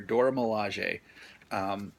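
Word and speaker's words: Dora Milaje: milege a I guess they have a little pronunciation down here Dora Milosh a and you know the women the the guards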